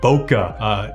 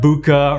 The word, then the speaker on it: bokeh: blurry background look which is referred to as bokeh not buka or buka it's i think it's pronounced bokeh that is the correct pronunciation of the term